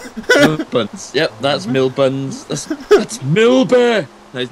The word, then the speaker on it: Millbee: Milba. So, it's spelled exactly the same, but pronounced very differently.